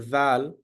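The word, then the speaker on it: ذال: is AAL for pronouncing zal the tip of the tongue must touch to the bottom of the front top teeth this is the point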